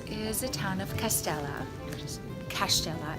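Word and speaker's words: Kaštela: a town of castella cash Stella is pronounced as cash like Pella and it's a castle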